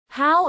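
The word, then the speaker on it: Haugh: The Hoare unit, pronounced how, is a measure of the internal quality of an egg.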